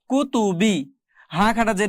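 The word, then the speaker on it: كتبه: কুতু বাজেরবি কুতুবি দেখুন প্রথম তিনটাতেই কিন্তু টান নাই প্রথম তিনটাতেই কোন প্রকার টান নাই কুতুবি হাজের হি কুতুবিহ কুতুবিহ এগুলো কোনটাতেই টান দেওয়া যাবে না শুধু শেষে এসে টান হবে হাজের হি তাহলে উচ্চারণ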